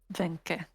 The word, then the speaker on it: Venke: Is it pronounced the same way? Venk. Venke, or is it Venk? Venke.